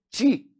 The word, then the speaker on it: te: Eu pronuncio o TE como ti.